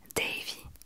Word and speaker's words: Davy: Dav Dav Davy Davy on va le prononcer à l'américaine quand même Davy Davy Davy Davy